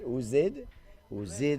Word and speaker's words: Ozid: There's always sometimes different pronunciation, but it's Ozid Edwards.